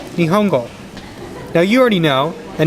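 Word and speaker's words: 日本語: This word right here, this word right here, and this word right here are all pronounced Nihongo.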